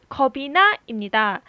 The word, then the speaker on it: 겁이 나: 너무도 감기에 두려워 없지만네 잘못된 발음은 맨 마지막 부분을 접시나입니다이 겁이 나를 겁시나라고 발음했는데 오른 발음은 뭘까요 오전 발음은 겁이나입니다 대체 왜 겁신화가 아니고